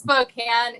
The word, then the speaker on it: Spokane: Just Spokane is how the locals say it.